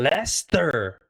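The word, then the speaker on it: Leicester: Lester. Lester can cause tourists probably everyday words. Name like Lester and Wooachir can cause tourists problems because they aren't pronounced anything like how they look.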